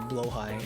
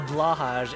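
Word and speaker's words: Blåhaj: hope that you own a blowhigh and see if they know what you're talking about. More than likely, they'll probably think that they probably more recognize a what's it called? A blahaj if you pronounce it incorrectly, or just the IKEA shark.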